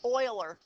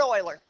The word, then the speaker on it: Euler: it his first name is Leonard but it's pronounced Euler Leonard Euler don't ask me why and he's not he's